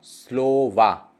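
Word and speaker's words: слова: उसके बाद है स, ल, ओ, व, ओ। लास्ट ओ पे स्ट्रेस नहीं है तो पहले ओ पे स्ट्रेस है तो होगा स्लोवा, स्लोवा।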